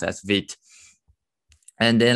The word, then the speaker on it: Vite: actually uh friend world for quick and is pronounced as vit and then like if you want to try